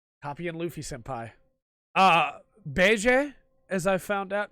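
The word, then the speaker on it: Bege: really honestly did copy and Luffy senpai ah Bay Jay as I found out it's the way to pronounce it because I'm a manga reader not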